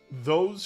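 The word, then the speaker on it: Thoth: talk about Toth or th how do you pronounce the Egyptian God's name is it tho yeah it's tho all right so let's talk about this thing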